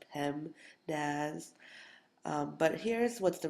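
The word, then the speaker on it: PEMDAS: dear Aunt Sally or pmaz if you um pronounce it out it's pem Daz um but here's what's the real important thing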